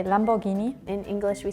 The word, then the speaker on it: Lamborghini: Italian and and German in Germany we say Lamborghini in English we say Lamborghini in Sweden we say Lamborghini in Spanish we say Lamborghini in Italian we say Lamborghini and in French we say Lamborghini very similar I think that's the beginning is